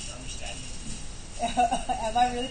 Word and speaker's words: Darmstadtium: Or 110 is Darmstadtium. Yeah, you're pronouncing that wrong. It's actually Darmstadtium.